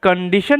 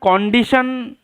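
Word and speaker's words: condition: কন্ডিশন মানে শর্ত। এইযে এটার উচ্চারণটা কন্ডিশন বলা যেতে পারে। কিন্তু এই ও এর উচ্চারণটা আই এর মত করাটাই বেটার।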